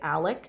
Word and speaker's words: Alex: And by the way, his name is spelled Alex, but for whatever reason, he likes to say it Alec.